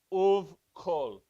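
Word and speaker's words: ובכל: And you pronounce that right here, uvkol. Because this is another labial, even though it's u, because it's a vav. So if it is directly preceded or followed by another labial consonant, so this is a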